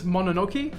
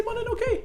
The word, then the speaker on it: Mononoke: Princess Mononoke. Yes, Princess Sweet. Mononoke. I haven't been able to pronounce it this whole time.